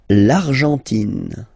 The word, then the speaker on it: Argentine: L'Argentine. Okay, so you've got this nasal here, en, l'argent, and then tin. Don't pronounce the final it just gives you the pronunciation of the N, in.